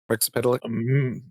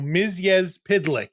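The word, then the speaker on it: Mxyzptlk: Miz Pidlick. Rex Pedlick. No, Miz Pitlick.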